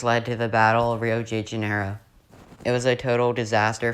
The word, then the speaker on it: Rio de Janeiro: into the bay of rio de janeiro that's right it's not rio de janeiro americans and anyone who pronounces that it's rio de janeiro this is portuguese land not spanish anyways the french who